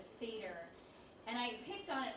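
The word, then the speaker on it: Seder: remember this thing about the woman saying Cedar instead of Sedar and I picked on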